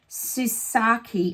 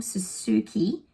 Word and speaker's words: Suzuki: 2020 um and also susaki oh I always get your name wrong Suzuki s u Suzuki I'm going to call